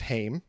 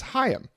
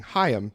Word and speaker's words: HAIM: you alex for correcting me it is not pronounced haim it is hayam uh i did not know that until just before the episode but i'm glad to know that now and i'm going to keep saying hiyam to try to wash the hame out of